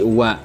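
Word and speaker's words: は: Ya, saya tuliskan di sini ya, wa dalam hiragana ini seharusnya ini ya dibacanya adalah ha, ya. Ini huruf hiragana ini sebenarnya kalau dibaca secara dia berdiri sendiri artinya dibacanya ha. Tetapi karena di sini merupakan partikel dibacanya bukan ha tapi wa.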